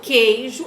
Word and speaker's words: queijo: Porque quando eu falo queijo, eu não pronuncio o som do U.